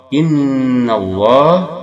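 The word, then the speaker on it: إن الله: Innallah, ada nun bertasydid. Ini hukumnya apa? Gunnah. Dia dibaca berdengung 2 harakat.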